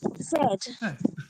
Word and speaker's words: zed: Zed. Okay. Zed. Yeah. The correct way. Yeah. It's a zoo. It's a zoo. Not a It's a zed. Yeah, that's right. Yeah, it's not Z.